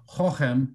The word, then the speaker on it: Cochem: Now, when you say some of these old German words, you have to, it sounds like you're clearing your throat. So Cochem is how it's pronounced.